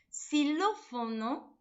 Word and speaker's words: xilófono: pronunciación es come c xilófono se escribe con x pero se pronuncia con s por eso dice cuando